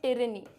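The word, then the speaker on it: tyranny: इसको बेटा प्रोनाउंस करते हैं टिरनी, है ना, टिरनी कहते हैं।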